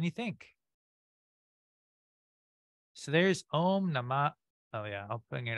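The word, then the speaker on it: namaḥ: And this, when you say namah, is that breath, namah, or sometimes namaha.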